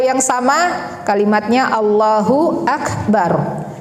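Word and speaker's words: الله أكبر: Setiap perpindahan gerakan mengucapkan Allahu Akbar yang sama kalimatnya Allahu akbar jangan Allahu Akbar huak itu salah ya Allah ya ini perhatikan bacaan ini Allahu akbar banyak sekali orang membacanya allahuak salah ya kemudian masuk ke bacaan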